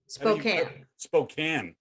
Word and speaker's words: Spokane: out of spokane spokane spokane washington you know it looks it's spelled spokane but i'll go with spokane since you now live there um she's with us